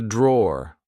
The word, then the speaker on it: drawer: This is a drawer, like I said. Be careful, because in British English we don't pronounce the E at the end. We just say draw.